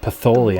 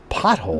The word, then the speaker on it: pothole: She was reading like a Far Side to me, and she pronounced it Patholi, and I'm like, Patholi? It's pothole.